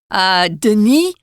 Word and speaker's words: Denis: Denis, they don't pronounce the S in France.